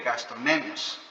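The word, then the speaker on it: gastrocnemios: pero hoy en día se llaman gastronemios, así se escribe, gastronemios, con C.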